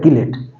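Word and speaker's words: chelate: cyclic compound बना है इसको बोलते हैं चलेट कई बार इसको प्रोनाउंस किया जाता है कलेट और कलेट लिगेंड्स भी बोला जाता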